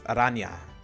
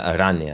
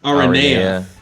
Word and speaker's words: araña: The official or the proper way to pronounce it is araña. Yeah, araña.